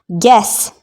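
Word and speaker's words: guess: यह है आपका गार्ड गैस गैस में अनुमान लगाना यह आपका यहां पर यू साइलेंट है टर्न चूर्ण नहीं पादना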